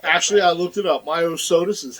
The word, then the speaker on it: Myosotis: Myosotis is how you pronounce it.